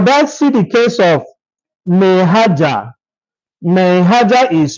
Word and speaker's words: Maihaja: For that, see the case of Maihaja. Maihaja is spelled m a i h a j a against Gaidam.